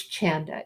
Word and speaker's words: Chanda: that's right with the chanda rhymes with panda it's a hard one a lot of people say it wrong it's chanda yeah you did good